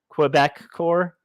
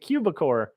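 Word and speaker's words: Quebecor: is in Canada and it's actually Quebec core I was like oh my gosh I'm a I've been calling it cubicor Quebec I mean that's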